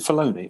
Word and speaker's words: Filoni: Is it Filoni? Or Dave Filoni. Yeah. Filoni. Yeah. I didn't know if I was pronouncing it right, but Dave Filoni sits there and he basically explains.